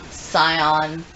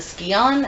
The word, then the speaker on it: scion: weird to me like you would think it would be Scion but they call it the ski on and it's no no